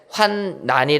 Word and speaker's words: 환난: 률 로 끝난 란 이것은 발음을 환란이 라고 하는게 맞습니다 그런데 성경에 기록된 환난이 라고 되어있는 이 어려워 어려울 난을 쓴 한자 의 환난은 발음을 환난이 라고 해야 된다는 거예요 그러니까 제 발음이 어색하게 들리지 저도 이게 문법에 맞는 발음이 니까 이해하시고 환난이 다 이렇게 합니다 한자가 들려서 의미가 약간